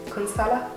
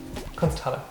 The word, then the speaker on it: Kunsthalle: No, that's not how you pronounce that. You're putting like a T in it. Kunsthalle. There you go. But there is a T at the end of Kunst. Yeah, but you make it Th.